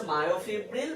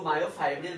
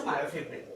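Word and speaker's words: myofibril: তো পুরোটার নাম হচ্ছে মায়োফিব্রিল বা কেউ মায়োফাইব্রিল বলেও ডাকে, অ্যাকচুয়াল উচ্চারণ হচ্ছে মায়োফিব্রিল।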